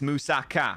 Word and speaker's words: moussaka: was like, it's Moussaka and it's Gyros, and you better pronounce it like that for the rest of your life.